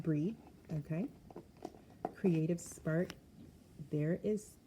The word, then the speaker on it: Brigid: coming hey Bri so her name looks like it's Bridget it is pronounced breed okay creative spark there